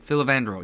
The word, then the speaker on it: Filavandrel: They wake up in a mountain cave where Geralt meets the elven king, how do you pronounce his name? Filavandrel, yes. Filavandrel, and urges him to lead his people to better lands after being banished by the humans.